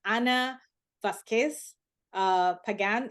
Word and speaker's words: Ana Vazquez-Pagan: Ana Vazquez-Pagan. Is that how you pronounce the name?